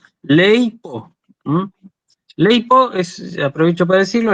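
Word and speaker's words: λείπω: Fíjense, yo tengo acá dos sílabas. Ley, digamos, leipo.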